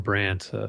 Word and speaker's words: Brant: and Brandt b r NT there we go easy enough phonetically friendly so you can't get it wrong simple no D everybody puts a D in my name for some reason people